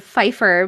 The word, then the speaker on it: Pfeiffer: The P is silent. I know that P is silent in the word Pfeiffer, but when it said Lil Fife, I didn't realize that's what it was.